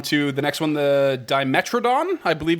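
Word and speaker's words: Dimetrodon: For now, we'll move on to the next one, the Dimetradon, I believe it's pronounced.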